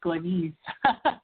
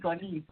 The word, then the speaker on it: Glennis: So my name is, and the way that you pronounce my name, too, by the way, is Glennis. Glennis. Sorry about that. Glennis. That's okay. When we met at the, I believe it was Learning Light, you may have heard my name as Glennis from some people, but actually the correct pronunciation is Glennis.